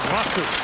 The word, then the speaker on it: Latu: Latu comes in. If you really want to say it like a Finn, it's Aku Latu.